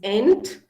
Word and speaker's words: Entschuldigung: It's Entschuldigung.